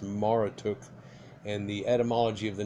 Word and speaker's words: Marduk: the encyclopedia of religion the name Marduk was probably pronounced Mara took and the etymology of